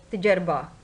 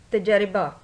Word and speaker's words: تجربہ: سے تلفظ واضح کریں۔ تجربہ، تجربہ، تے کے اوپر زبر، جیم کے اوپر جزم، رے کے نیچے زیر، بے زبر، ہے جزم۔ عملی، عین زبر، میم